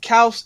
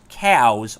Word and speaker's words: Xaos: It's pronounced Chaos, but it's XAOS because at the time I thought it was cool because that's pretty much how the Greeks would spell it. Not just cows. Not cows or chaos. Just cows.